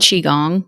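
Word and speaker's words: qigong: is why I'm a huge yoga advocate and chiong which is spelled Qi g o n g and gong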